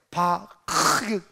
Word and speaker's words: 바카: 네 번째, 바카 골짜기입니다. 히브리어를 써줬는데 저기 제대로 된 발음이 바크, 그 막 가르침을 뱉는 발음이거든요. 바카 하면 시작.